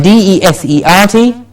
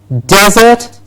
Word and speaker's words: desert: Please remember the next one, D-E-S-E-R-T, desert, desert and desert. To desert and desert. What's the difference? One's a desert, yes, like what we have in Rajasthan, desert, Registan, desert, and desert.